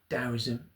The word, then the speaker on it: Daoism: Um tism dowism it's actually pronounced dowoism is was a is a philosophy that comes from China.